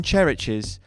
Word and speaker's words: Chereches: I think the EP is called Traian Chereches, and it's spelt exactly the same way as I've said it, phonetically, Chereches.